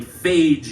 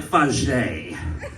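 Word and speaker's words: Fage: It's spelled F-A-G-E, and so, you might think it's like phage yogurt, but no, it's not gonna be phage yogurt. I mean, it's too bougie and pretentious to just be phonetically friendly for Americans. And so, you might think, oh, if it's not phage, it's Fayet, or if you've been to college, it's Fajee, but no, it's like Fajay.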